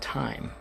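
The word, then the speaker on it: taim: time uh and also the other version which is t-a-i-m which is going to be pronounced time exactly the same so time you do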